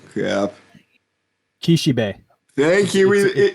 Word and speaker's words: Kishibe: um yes today we are covering Theus spoke kashiki Rohan and Kiki who's that am I pronouncing his name crap Kishi B thank you B it's not a k it's